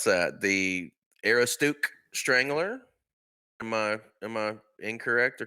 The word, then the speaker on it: Aroostook: I don't even know how to pronounce that. The Aroostook Strangler. Am I incorrect or correct? That's Aroostook. That's Aroostook County is the northernmost county in Maine, hence the Mainer event.